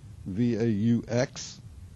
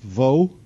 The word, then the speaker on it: Vaux: his partner Calvert Vaux, V-A-U-X. It's French, and if he was French, it would perhaps be pronounced Vaux. But since he is English, it's actually pronounced Vaux.